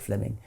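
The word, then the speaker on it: Fleeming: was simply it's written in fleaming which is pronounced Fleming Fleming Jenkin was simply saying manifest facts are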